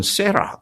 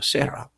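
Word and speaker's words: Sarah: 미국 발음은 세라 그러죠. 세라.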